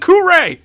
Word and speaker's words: Hagakure: I said Kure! I pronounced it with a hard R, not yep.